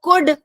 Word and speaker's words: could: ठीक है, तो कुड और वुड, यहाँ पर कुल्ड और वुल्ड नहीं होगा.